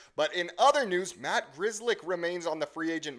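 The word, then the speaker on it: Grzelcyk: Crazy that that name's pronounced Grizzlick.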